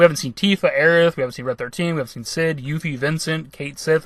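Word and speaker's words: Cait Sith: But we haven't seen Tifa, Aerith, we haven't seen Red 13, we haven't seen Cid, Yuffie, Vincent, Kate Sith, or Cat She as it's actually pronounced.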